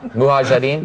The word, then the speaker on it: Mujahideen: Mujahideen?